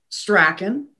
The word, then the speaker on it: Strachan: So it's Strachan. And I say Strachan because nobody knows that it's pronounced Strawn, and you'll never spell it right.